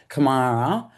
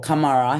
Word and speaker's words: Kamarra: And so that's actually where my name comes from, Kamarra, or Kamara, how they say it up there.